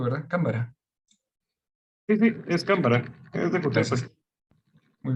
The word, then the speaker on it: Cámara: Sí, así se pronuncia su apellido, ¿verdad? Cámara. Sí, sí, es Cámara.